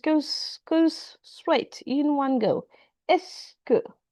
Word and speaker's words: est-ce que: Est-ce que, it's just, it's not like E-S-T-C, you know, everything is pronounced just S and then que, est-ce que tu connais ce chanteur?